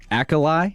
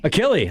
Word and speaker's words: Achilles: I've seen this uh is it and pronounce, Forgive my mispronunciation of this, but is it Akolai? Achily like your Achilles.